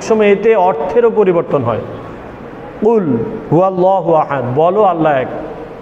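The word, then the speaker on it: قل: এখানে কুল শব্দর অর্থ হচ্ছে বলুন, আর যদি কফকে ভুল মাখরাজ থেকে উচ্চারণ করি, কাফ বলা হয়, কুল বলা হয়, তাহলে অর্থই বিকৃত হয়ে যায়, পরিবর্তন হয়ে যায় অর্থ, ভুল হয়ে যায়।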